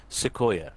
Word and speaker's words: Sequoia: Sequoia.